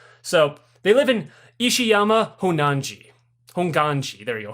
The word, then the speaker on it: Honganji: So they live in Ishiyama Honganji. There you go. Honganji is how you say it.